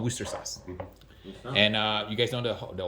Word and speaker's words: Worcester sauce: When I was in England, they said that you don't say Worcestershire or Worcestershire. It's called Worcester sauce.